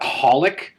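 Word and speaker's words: xxxHOLiC: It's kind of like holic. That's the three X's in front of it. Are I supposed to pronounce those? But no, you just leave them out completely.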